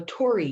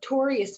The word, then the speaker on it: torii: my inspiration i saw the image of a tory gate and so a tory gate is something you may recognize from japan and that's a symbol i'm going to use today tori is spelled t-o-r-i-i and this is a special sacred